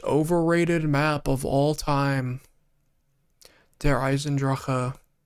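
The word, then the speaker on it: Der Eisendrache: Disendra. I'm the only person that pronounces it correctly.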